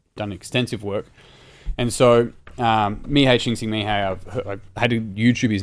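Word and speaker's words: Mihály Csíkszentmihályi: So this is looking at Mihei Csikszentmihalyi's work on flow. For those watching online, that's this book here is an example of his work, but he's done extensive work. And so Mihei Csikszentmihalyi, I've had to YouTube his name multiple times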